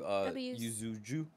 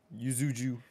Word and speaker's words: Yuzu: I'm like, I was almost about to like mess up like saying the word Yuzuju. I think it's just Yuzu.